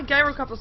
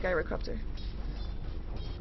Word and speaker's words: Gyrocopter: a viable item upon gyrocopter what am I pronouncing gyro copter wrong or something gyro copter it says gyro copter not gyro copter not gyrocopter gyrocopter it's a g there we go anyway